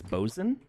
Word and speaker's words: boatswain: It's one of those weird nautical terms where you don't say it the way it's spelled. How do you say it? I think it's bosun, but it looks like boatswain.